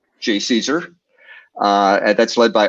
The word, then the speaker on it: JCESR: for energy storage research whose acronym can be pronounced j caesar uh and that's led